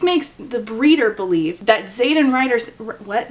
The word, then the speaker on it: Xaden: away from Zaden Ryerson Zaden is spelled with an ax the air rushes from